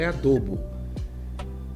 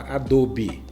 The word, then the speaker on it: adobo: estou falando de adobo, e eu falo adobo. Muita gente fala adobe. Eu prefiro falar adobo, que era como se falava. Adobe também é correto, mas de barro cru, adobo feito de barro cru.